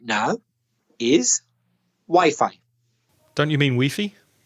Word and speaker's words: Wi-Fi: way that crazy said but it's not it's Wi-Fi that's kind of logical if you know the origins of it because it's wireless fidelity